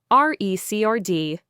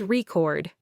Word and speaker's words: record: I object to that statement, to recrd. Stress on the first syllable, noun, a music album or a piece of data, versus record. Stress on the second syllable, verb, to save audio or video.